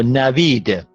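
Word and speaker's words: نوید: Now, if you divide this into two syllables, the syllables, there are two syllables. Na, okay, up to here. Na, and then say vid, navid, navid. And then this v stands at the beginning of the second syllable.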